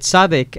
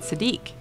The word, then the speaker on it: Sadiq: I've got to tell you that, people who have your name here in the United States, they pronounce it Sadiq. Yeah. Yeah, so and yours is pronounced Sadiq. That's really interesting. Yeah, exactly. My name is Sadiq. We don't really pronounce the. We pronounce it as the. The. So it's Sadiq. Okay. Sadiq. Yeah, Okay. it's an Arabic name.